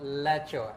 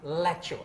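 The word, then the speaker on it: lecsó: dish and it's called lecho and cooking with me will be the hungarian ambassador to indonesia her excellency madam judith so tell me about lecture do i pronounce it correctly you absolutely pronounce it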